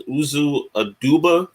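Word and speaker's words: Uzo Aduba: know in the comments can basically pronounce it as uzu a duba um you know like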